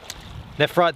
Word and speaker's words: nephrite: Nephrite, the PH is pronounced as F.